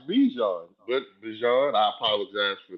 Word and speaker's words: Bijan: other two are Alvin Kamara and we have been saying Bijan's name wrong this entire time. I seen him on the interview. It's Bijan, like Bijan. the mustard.